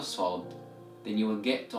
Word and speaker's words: ص: Alright, to pronounce the letter Sod, you need to take care and focus on where your whole tongue is moving. And when I say the whole tongue, I mean the tip of the tongue and the back end of the tongue. So the tip of the tongue should be moving downwards, right behind the lower front teeth without touching it.